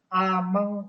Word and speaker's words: ameng: Ameng bukan ameng ya. Kenapa bukan ameng? Karena E-nya itu di atasnya tidak ada tanda petiknya. Jadi huruf E-nya itu berubah bunyinya menjadi E. Jadi ameng dibacanya, bukan ameng. Kelas yang lain ada yang baca ameng, itu tidak tepat ya.